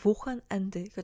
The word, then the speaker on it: Wochenende: 그래서 독일어는 이런 경우에 발음을 끊어 발음을 하게 되는데요. 그래서 Wochenende가 아니라 Wochenende 이렇게 발음이 나게 됩니다.